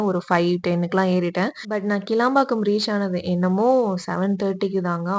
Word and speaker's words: கிளாம்பாக்கம்: நான் வந்து தப்பா ப்ரொனவுன்ஸ் பண்ணி கேளம்பாக்கம் அதாவது கிளாம்பாக்கம் போறதுக்கு கேளம்பாக்கம் பஸ்ல ஏறி அதுக்கப்புறம்